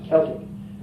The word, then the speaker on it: Celtic: You see, the Gaelic language, the C is a K. You see, it's Celtic, but it's Celtic. It's pronounced Celtic, and like Eamon is Edward.